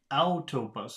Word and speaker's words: Autobus: Autobus, that's the first syllable.